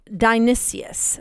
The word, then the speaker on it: Dionysius: Today we're talking about the terrifying strange legend of Saint Denis, also known as, and I'm going to pronounce this correctly, Dionysius.